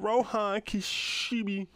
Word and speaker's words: Rohan Kishibe: All right, as you see right here, man, we got Rohan Kishibe. That's how you pronounce his name, man.